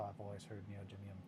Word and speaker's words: neodymium: So the reason that for the longest time, yeah, that's how I've always heard neodymium pronounced.